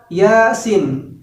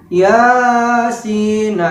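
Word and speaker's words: يس: Kemudian yang huruf sin itu sampai dengan 6 harokat. Contohnya seperti ini. Yasin. Contohnya seperti itu. Namun di masyarakat itu membacanya seperti ini. Yasin. Itu salah. Jadi yang benarnya adalah Yasin.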